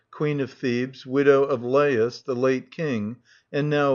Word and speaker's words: Laius: The following do not appear in the play but are frequently mentioned:-- LAIUS (pronounced as three syllables, La-i-us), the last King of Thebes before Oedipus.